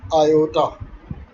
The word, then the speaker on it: iota: Okay, we pronounce is as iota. It's not an English letter, it's written as I, but it's a Latin letter iota.